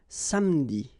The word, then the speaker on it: samedi: Okay, same thing here, appeler, but then you get appeler, appeler, and then samedi.